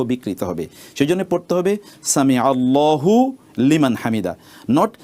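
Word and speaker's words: سمع الله لمن حمده: সেজন্য পড়তে হবে সামি আল্লাহু লিমান হামিদা। নট সামি আল্লাহ হু লিমান হামিদা।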